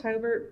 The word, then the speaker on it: Hobart: same right well Hobart Hobart hober Hobert it's pronounced Hobert but it's spelled h o B- a r